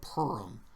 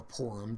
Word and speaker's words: Purim: And so at the conclusion of the book, Mordecai establishes this Feast of Purim, or Purim, depending on how you pronounce it, where you have this annual celebration that celebrates the Jews being delivered from extermination.